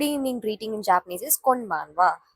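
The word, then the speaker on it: こんばんは: Good evening greeting in Japanese is konbanwa. Konbanwa. This letter is ha, but On greeting, we can say this as wa.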